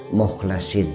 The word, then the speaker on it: mukhlasin: Awas, bacanya jangan salah. Illa ibadaka minhumul mukhlasin.